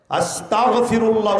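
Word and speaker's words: أستغفر الله: আস্তাগফিরুল্লাহ উচ্চারণ করুন, তালাফফুজ শুদ্ধ করুন, সহিহ করে পড়ুন। আস্তাগফিরুল্লাহ। আস্তাগফিরুল্লাহ মানে আল্লাহ আমি ক্ষমা চাই, আর আস্তাগফিরুল্লাহ মানে হলো আল্লাহ আমি কাফের হতে চাই। তাহলে একটা গাইন আর কাফের মধ্যে পার্থক্য আছে না নাই?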